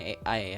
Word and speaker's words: AI: sih, kayaknya AI sih, bacanya AI ya, bukan Al cuy, AI itu mungkin ya.